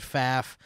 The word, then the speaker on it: Pfaff: My name is Pfaff, pronounced like Paff. The first F is silent. All right, Pfaff.